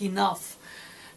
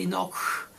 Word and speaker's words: enough: It's like those pronunciation of unspoken words, letters in a word, like enough. You don't say enoch, but you write it.